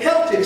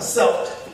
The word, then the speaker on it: Celtic: They were people of Celtic stock, or Celtic, depending on how you want to pronounce it, Celtic or Celtic, same meaning, who were themselves earlier invaders.